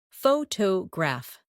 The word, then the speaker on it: photograph: In English, some words are pronounced with extra emphasis on one part. For example, photograph, photographer, and photographic. The stress moves and that changes the sound.